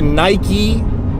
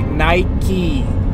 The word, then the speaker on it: Nike: to drive past the Nike world headquarters campus say it properly Nike Nike all you Europeans say Mike it's not how you say Nike it's like five minutes